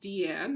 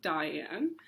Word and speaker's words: Diane: So Deanne Arbus, and it's pronounced Deanne, not Diane, is one of my favorite photographers.